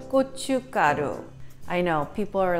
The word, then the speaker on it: 고춧가루: Now, Korean red pepper flakes in Korean is called 고춧가루. I know, people are like, what? Gochu what? It's actually G-O-Chu, C-H-U, Ga-G-A, Ru, R-U. 고춧가루, 고춧가루. So if you go slowly, it's not that bad.